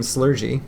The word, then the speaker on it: Slurgi: He kind of just said a da-da-da-da-da, and out came Slurgy. And that's how we pronounced it at the time.